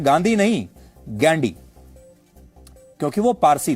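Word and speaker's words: Ghandy: फिरोज गांधी के पिता का नाम था जहांगीर फरदून गैंडी। अंग्रेजी में वह गांधी नहीं गैंडी लिखते थे जिसकी स्पेलिंग है जी एच ए एन डी वाई गैंडी।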